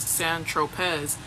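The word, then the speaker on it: Saint-Tropez: When you bought the eightball of C on St. Tropz, pronounced San Tropz, you didn't tell Mr.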